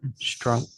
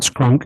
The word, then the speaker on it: Strunk: Strunk. Yeah, it's STRUNK, not SK. It's not Scrunk, it's Strunk.